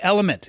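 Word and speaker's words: LMNT: Today's episode is brought to you by Element. It's spelled L M N T like it is on the can. Don't be afraid to just say element.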